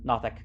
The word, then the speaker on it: Nothic: not an No, illithid, not nothing. Nothic. Nothic. I got my pronunciation wrong. A Nothic.